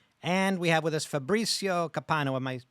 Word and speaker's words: Fabrizio Copano: and Eleanor personality and we have with us Fabricio capano am I pronouncing that correctly perfect he is a comedian